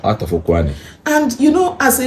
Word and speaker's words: Ukwuani: That Kwale, it's the pronunciation the colonial masters could make out of Ukwuani. Out of Ukwuani.